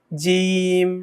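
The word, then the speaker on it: جيم: জিম, হ্যাঁ, একটু আওয়াজটা শক্ত হবে এবং একটু টেনে হবে।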